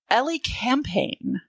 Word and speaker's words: Elecampane: I'm talking about Let me find my phonetical pronunciation here. Ellie Campaign.